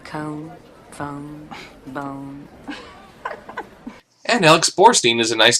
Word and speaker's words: Borstein: phone bone and Alex Borstein is a nice name too it rhymes with a horse spleen I wanted to apologize